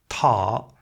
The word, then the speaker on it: 獺: Flip ahead and we get our entry, telling us it's pronounced T + A and that the Shuowen said it was like a small dog who lives in water and eats fish. Tǎ, otter.